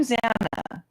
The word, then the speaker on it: Xana: I'm Zana, pronounced Xanax without the X.